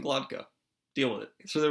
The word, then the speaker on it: Glokta: Glokta, not Glotka.